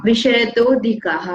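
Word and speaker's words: विषयतोऽधिकाः: विषयतोधिकाः, अ नहीं बोलना है ना, विषयतोधिकाः, असाइलेंट है ना।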